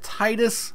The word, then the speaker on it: Tidus: And this is, depending on your pronunciation, I've heard it Tidus. The Final Fantasy line usually pronounces it as Tidus, so you can call him what you will.